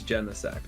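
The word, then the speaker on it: Genesect: auras yeah um also did you pronounce it Jean sect is it gen sect I'm pretty sure it's gen sect I think I've heard it both ways I get why you'd say Gene sect but also it could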